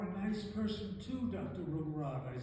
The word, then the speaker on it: Rungrat: Rumrod," I said. "You pronounce my name correctly.